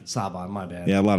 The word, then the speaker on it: Saban: right I'm sorry yeah just think like it's Saban it's literally Jackson I'm just saying seven with an accent oh yeah that's the stuff I've the reason I picked Saban it was an inside